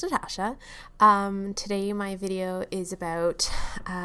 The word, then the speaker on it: Natasja: Hey guys, it's Natasha, pronounced Natasha.